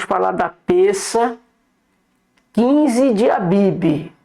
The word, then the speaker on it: Abib: Lembrando, irmãos, nós quando vamos falar da peça 15 de Abibe, devemos sempre lembrar que a pronúncia é Abib. Muitas, poucas são as bíblias hoje que traz a expressão correta, a Bibi.